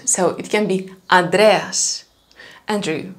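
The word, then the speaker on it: Ανδρέας: they can't pronounce is a small short n before the d sound so it can be andreas andrew right andreas so bother okay you will hear greeks saying adreas definitely but i would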